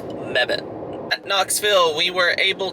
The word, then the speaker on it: Mebane: I finally have an answer, and it is pronounced Mebane.